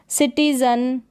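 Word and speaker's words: citizen: जैसे कि children, रॉटन, सिटीजन, burden, लाइटन और लिसन। तो इस तरीके से ई को हम ई नहीं पढ़ेंगे, यहाँ पर अ पढ़ेंगे, जैसे कि इस रूल में बताया है।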